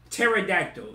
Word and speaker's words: pterodactyl: do you spell pterodactyl why in the does pterodactyl start with a p why i don't get the i don't get the the silent p like we don't need that we don't need no silence if it's silent why is it there pterodactyl and you put a p in front of it that don't make [